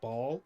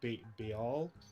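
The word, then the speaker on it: Baal: how you pronounce the the character's name is ball it's b-a-a-l or it's pronounced be all something like that he was the villain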